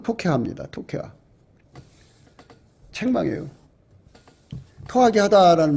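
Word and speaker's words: תוכחה: 책망을 안 들으면 안 되는데 이 책망은 토케하거든요. 토케하. 토카이하우라고도 하고요. 음력은 케이하우라고도 하고요. 발음은 토케하입니다.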